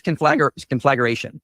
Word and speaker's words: conflagration: He was adding a schwa and putting the emphasis on the wrong syllable.